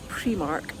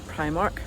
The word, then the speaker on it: Primark: going to run into premark and or Primark depending on how you want to pronounce it and let's see what